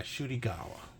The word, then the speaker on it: Ncuti Gatwa: As you can see right here, this is the new Doctor Who by Ncuti Gatwa. I actually pronounced his name correctly this time.